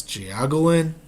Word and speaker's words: Jiaogulan: It's spelled Jiaogulan.